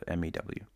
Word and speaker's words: mu: By the way, it's pronounced mu. So, mew.